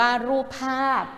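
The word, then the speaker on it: รูปภาพ: ไป ค่ะ คำ นี้ รูป ภาพ อ่าน ว่า รูป ภาพ รูป ภาพ อ่าน ว่า รูป ภาพ ทำ นี้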